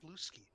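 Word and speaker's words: Bluesky: Ooh, I was given invite, and I am now on Blueski. nice. It's not pronounced Blue Sky. It's Blue Ski.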